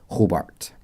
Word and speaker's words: Hobart: Hobart.